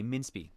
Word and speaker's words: minspee: Pronounce min like minute and spee like spree with a R. Okay, minspee.